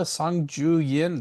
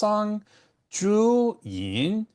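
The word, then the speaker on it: 桑菊饮: formula sanju yin that's sanju yin or mulberry leaf and chrysanthemum drink. So if that sounds weird as I'm pronouncing sanju yian it's because I'm using the tones and I'm not a native speaker.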